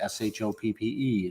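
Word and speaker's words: Shoppe: everything going on uh went to a place called the game chape s-h-o-p-p-e i think they just pronounced it game shop um and it's a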